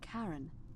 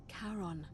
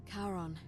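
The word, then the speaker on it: Charon: It's just as you described it, only your pronunciation is a little off. The name you heard wasn't Karen. It was C H A R O N. As in Karon, the fairerryyman of the dead. Karon, who in exchange for the right coin, helps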